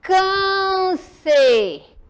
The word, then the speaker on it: câncer: olha só novamente benção o câncer presta atenção que eu quero que vocês fiel visualize o som câncer olha só aqui o som é fechado ok não é aberto como agudo e a gente